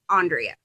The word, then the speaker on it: Andreea: my last name but my first name is Andreea it is spelled just like Andrea but it's pronounced Andreea I'm a city and